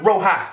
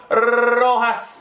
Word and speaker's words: Rojas: Because the name ain't pronounced Rojas, it's pronounced Rojas.